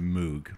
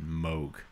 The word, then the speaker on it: Moog: would play um an electric organ and a moog bass key at the same time yeah you pronounce it correctly he will be very happy about that it's not a lot of people pronounce it moog but moog listen i might be a drummer but i'm